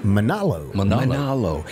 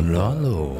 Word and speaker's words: Manalo: Manalo. It almost sounds like a Hawaiian kind of. Manalo.